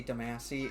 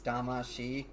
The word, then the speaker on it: Damashi: And, you know, trust me, there's tons of reviewers out there who say Damasi. It's Damashi. Because I've heard the theme song so many damn times.